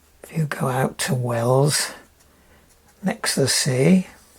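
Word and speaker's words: Wells-next-the-Sea: see if you if you go out to Wells next to the Sea how it's pronounced Wells next the sea this is the east coast of the England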